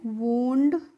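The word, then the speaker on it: wound: तो इसको हम पढ़ते हैं वूंड, और वूंड मीन्स होता है घाव।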